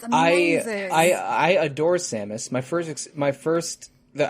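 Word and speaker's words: Sammus: amazing I I Adore samis my first my first that I first learned about her um her stage name is Samus spelled with two M's but otherwise like the Metroid protagonist um I uh I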